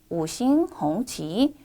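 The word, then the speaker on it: 五星红旗: 같이 읽어볼까요? 오싱홍치, 오싱홍치라고 읽습니다.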